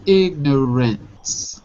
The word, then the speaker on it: ignorance: But be careful with the ants. It's not ants. It's ignorance.